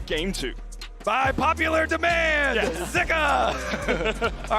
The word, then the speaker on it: Zika: and it was pronounced zuka on the LPL English broadcast but we have seen some people saying that in Chinese actually pronounced more with an i zika so I think for